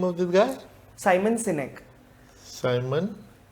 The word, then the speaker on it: Sinek: So there's a public speaker known as Simon Sinek.